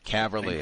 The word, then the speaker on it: Caverly: Uh, one, am I pronouncing it correctly? Is it Cly? Caverly. Yes, sir. It is Cly. Caverly.